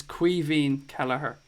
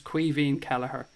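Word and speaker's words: Caoimhín Kelleher: you get a body it's qui Veen Kelleher soak weaving is the Irish for Kevin that's it's the it's the Irish word for Kevin so his name is actually Kevin Cala horrible obviously goes being Irish it's qui V and Kelleher that's how you pronounce his name I hope that helps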